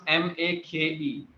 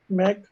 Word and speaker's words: make: how do you pronounce m a k e mac it's make you you're saying mac mac it's not mac yes okay so we'll